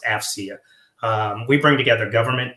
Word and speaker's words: AFCEA: we go by our acronym afcea and it's pronounced afia um we bring together government industry and Academia